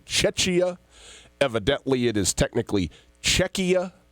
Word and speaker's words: Czechia: to want to say Czechia. Evidently, it is technically Czechia. It's a hard, the CH in the middle is actually a K sound. So Czechia is now the new name of the country.